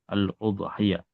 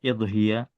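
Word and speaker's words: أضحية: Jadi udhiya itu dibaca domah ya. Aludhiya. Iya. Sebenarnya ada beberapa cara baca ee di sini disebutkan fiha tamanani lghat ada delapan bahasa itu. Bidamil hamzah ada udhiya wa kasriha ada idhiya.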